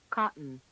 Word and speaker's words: cotton: The unstressed vowel after the t and d is a syllabic N. Cotton, cotton.